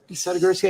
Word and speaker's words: Sadogursky: Sadogursky, I pronounced it right? Perfect, I mean, it's just like it looks, right?